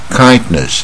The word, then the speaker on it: kindness: ；Happiness 啊，快乐；Illness 疾病；Kindness 亲切。